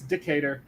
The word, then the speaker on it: Decatur: of yours no clue and yes it is decatur but i always have fun whenever i see that name pronouncing it decatur i just i'm just bad at names i